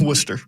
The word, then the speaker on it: Worcester: Worcester, is that how you say it? Worcester. Just Thank Worcester. You. Okay, and then it looks next like up, Worcester, yeah, but it's Worcester.